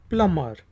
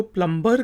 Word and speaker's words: plumber: फिर वर्ड है जी PLUMBER, प्लमर, प्लमर। Urdu में हम इसको प्लम्बर कहते हैं क्योंकि हम बी को प्रोनाउंस करते हैं, लेकिन इंग्लिश में हम इसको प्लमर कहते हैं, जो कि पाइप्स वगैरह